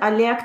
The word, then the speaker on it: Oleg: So in this case, it's pronounced Oleg.